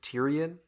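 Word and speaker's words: Tyrian: I hear that right this dude's name is Tyrion as in Tyrion Lannister turns out it's spelled differently but it sounds identical I'm onto you Martin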